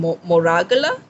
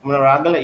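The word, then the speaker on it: Monaragala: own food, and we're also seeing it in Moragala, Charit, if I'm Yes, pronouncing. yeah, Munaragala, yes.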